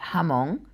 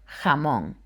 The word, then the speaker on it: jamón: La letra J can sound either like an H or a harsher H. For example, this can either be jamón or jamón.